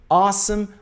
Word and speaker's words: awesome: Repare na pronúncia a. Awesome, awesome, awesome, awesome. Não é awesome ou awesome. Muita gente fala awesome. É a. Awesome. Som de a, tá bom?